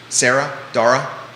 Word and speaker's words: Dara: pronounce this principal's name Dara rhymes with Sarah Dara and last name Bonham